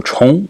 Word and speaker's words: 重: And then it has the meaning serious or important in the expression or word 重要, and can be pronounced also chong in the second tone in expressions like to repeat, which is 重复, for instance.